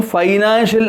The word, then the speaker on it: financial: sentence i need some financial assistance to develop my company see where the stress should be given financial second syllable assistance second syllable develop second syllable company first syllable if you want to